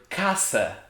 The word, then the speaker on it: caça: some trouble so for example there's the word casa hunting without the diacritic it's kaka poo you